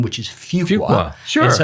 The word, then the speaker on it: Fuqua: I finally began to understand how you pronounce the name, which is Fuqua.